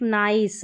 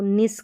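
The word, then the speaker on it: nice: Y, fine, bike, नाइस, अब जैसे इसको निस करके नहीं पढ़ सकते आप।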